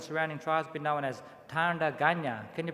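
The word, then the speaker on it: Tandanya: tagana people and surrounding tribes been known as tanda ganya can you pronounce that one tanda ganya and tanda is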